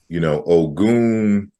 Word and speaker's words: Ogun: And for folks that don't know, O.G.U.N, from the cultural perspective in Africa, is pronounced differently in various different places. In Yoruba, you would say Ogun, and in ancient Kemet, for example, there's a cognate in the deity Sekhmet.